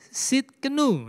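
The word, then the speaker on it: צדקנו: Yehova Sidkenu.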